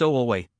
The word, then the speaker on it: Wu Wei: This book explores the core concept of Wu Wei, pronounced O-Wei, which translates literally as no